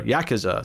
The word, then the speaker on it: Yakuza: that was a member of the Yakuza or Yakuza to say it properly at the uh this